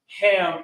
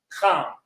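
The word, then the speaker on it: חם: So technically the correct way to say Ham is Kam with a strong CH sound to it. You understand? Not like the word cheese, but more like, how do I say? It's more like a from the throat kind of thing, almost like you're getting ready to spit.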